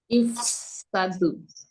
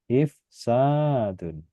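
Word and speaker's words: إفساد: Ifsadu. Panjang. Harus ada panjangnya. Ifsadun.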